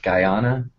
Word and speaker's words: Guyana: land guyana guyana how do you say that guyana yes yeah there you go portland up 2-1